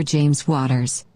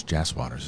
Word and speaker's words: Jas Waters: to This Is Us writer James Waters. It's Jas Waters, isn't it? I think it's spelled, but they said it wrong.